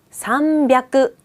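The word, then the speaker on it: さんびゃく: 300은 생뚱맞게 벽구로 변하고요.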